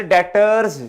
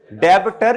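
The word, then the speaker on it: debtors: है ये जी फिर डेटर्स क्या बच्चों डेबिटर या डेटर नहीं बी नहीं पढ़ना आपने वो साइलेंट है खामोश है जैसे आप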